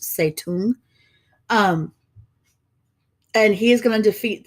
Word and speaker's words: Zedong: yes I know it says Zedong but it's pronounced say to him and he's going to defeat that the nationalist